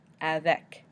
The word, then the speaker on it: avec: For example, in the word avec, which means with, we say the C, avec. Dollar, which of course means dollar, dollar, we say the R.